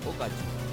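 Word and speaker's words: 외갓집: There's this restaurant, and it says, I thought the sign said, Owegad. Of course, that sounds retarded, right? So what I found out is it's actually pronounced Ogaji.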